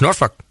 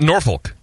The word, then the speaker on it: Norfolk: and uh we kep Kenny corrected guys it's norol it's not Norfolk nope or Norfolk nor norol norfol norfol